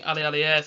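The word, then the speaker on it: Aliadière: Jeremy Alialier, that's how you pronounce his name.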